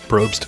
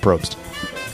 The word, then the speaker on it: Probst: Bloods probes ropes roast roast said it wrong it's Jeff Probst you